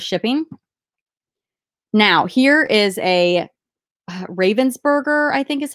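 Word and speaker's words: Ravensburger: 333 dollars plus shipping now here is a Ravens burger I think is how you say it and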